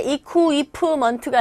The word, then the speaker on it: equipment: 발음하실 때 equipment가 아니라 equipment. Q 자체가요. 이 Q가 아니라 꾸 된 소리가 납니다. equipment.